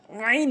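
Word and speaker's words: عين: আইনের জায়গায় হামজা এনে উচ্চারণ করা যাবে না। আইন উচ্চারণ করতে হবে।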